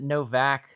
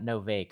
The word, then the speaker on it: Novaic: And I guess you'd pronounce it Novak, not Novake.